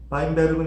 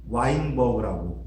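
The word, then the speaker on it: Weinberg: 바인베르그는 이제 독일어를 읽어서 그런데 영어로는 이제 와인버그라고 많이 또 발음합니다. 주로 영어 쓰는 나라에서는 하디-와인버그 법칙이라고 하는데 원래대로 걔네들이 부르는 이름으로 해주는 게 맞죠. 그러면은 하디-바인베르크 법칙이 맞습니다. 자, 그래서 하디-바인베르그 법칙이 성립하려면 전제가 있습니다.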